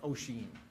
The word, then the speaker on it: Oisin: say it is to think of the actor Martin Sheen, say Sheen, and just stick an O in front, Oisin. Okay, so Oisin is the easiest way to say it.